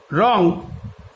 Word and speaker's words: wrong: হ্যাঁ, রং, WRONG, রং, এখানে ডাব্লুর কিন্তু কোনো উচ্চারণ নেই।